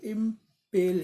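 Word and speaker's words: impel: गया, उसे कहते हैं इम्पेल। इसकी प्रोनाउंसिएशन इम्पेल इम्पेल ही होगी, इम्पेल।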